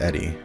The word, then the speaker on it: ED-E: very far from wrong ed- e pronounced Eddie is a companion character